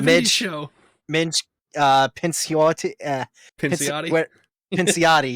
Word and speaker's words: Pinciotti: Pinciotti, yeah, there we go. That's how you pronounce that.